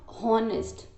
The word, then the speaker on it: honest: Okay, because your h is silent.